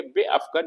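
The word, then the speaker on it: بیفکن: लिखा जाएगा बे अफकन, इसमें अलिफ नहीं लिखा गया, लेकिन हम प्रोनाउंस करेंगे बे अफकन यानी फेंको या फेंक दो।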